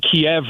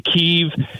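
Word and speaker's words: Kyiv: war is that apparently we've been saying Kiev wrong, including people from Ukraine have been saying it wrong for like 30 years, and it's actually Kiev, and it's spelled with like 18 Y's and V's after the K.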